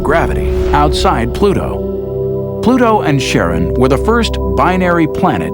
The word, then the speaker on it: Charon: Christie suggested the name Chiron after the ferryman of Pluto's underworld in Greek mythology, but preferred to pronounce it Charon, more like his wife's name, Charlene.